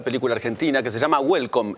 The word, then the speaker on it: Güelcom: Ayer se hizo la presentación para la prensa de una nueva película argentina que se llama Welcome. No Welcome en inglés, sino Welcome. Es más, escrito con diéresis, con G.